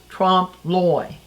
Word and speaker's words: trompe l'oeil: French term uh and it's pron here's the word right here spelled like this pronounce Trump ly now what it means